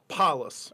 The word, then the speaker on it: Powlus: Okay, so is it Ron Powlus or Powlus? It's Powlus. Okay, all right.